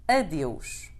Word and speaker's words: adeus: Once again, we have a word that many people think it is similar to the Spanish word, but here too the pronunciation is quite different. Adeus, goodbye.